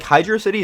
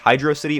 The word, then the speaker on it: Hydrocity: the Sonic community on if this level is pronounced Hydro City or hydrocity the answer is hydrocity by the way if you think otherwise you're wrong while I normally hate